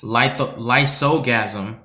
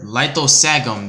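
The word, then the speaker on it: Lithosagym: For example, Lysogasm, or whatever. Lithosagum, there we go.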